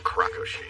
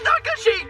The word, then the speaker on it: Nakashi: Sounds like a Krakoshi. That's Nakashi, jerk!